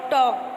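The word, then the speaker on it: talk: Look at the word टॉक, hair L is silent.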